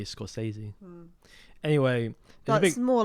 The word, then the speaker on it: Scorsese: Yeah, I think it's Scorsese. I think that's actually the correct pronunciation.